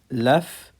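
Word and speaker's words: laugh: كده عندنا تصريف الافعال لف لفت لف لفت يضحك وكلمه لف الجي والاتش هتنطق ف كلاب كلابد كلب كلبد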